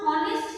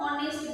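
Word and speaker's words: honest: मैन, एच से है, H consonant, लेकिन हम हॉनेस्ट नहीं बोलेंगे, हम ऑनेस्ट बोलेंगे, मतलब एच है साइलेंट, एच लिखा हुआ है लेकिन प्रोनाउंस नहीं हो रहा, इसीलिए हम आर्टिकल एंड को यूज करेंगे।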